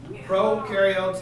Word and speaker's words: prokaryotes: people mix them up promo rhymes with no prokaryotes have no new rules eukaryotes you rhymes with